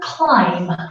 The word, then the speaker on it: climb: word ending and the the B is always silent so another example would be for example climb to climb then don't